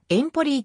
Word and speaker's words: エンポリ: の基礎自治体炎ポリーは宴ポリーと発音される遠方りと表記されることもあるがイタリア語では第一音節にアクセントがあるアルノ川によっ